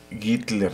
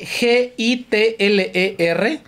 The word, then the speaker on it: Gitler: acuerdo dijimos que era Hitler no hit a bueno se escribe G i t l e r pero se pronuncia gitler Samuel gitler no Hitler